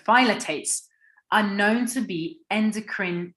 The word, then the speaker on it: phthalates: called phthalics or phthalates that's how you pronounce it phallits or phylotates sorry there we go phylotates are known to be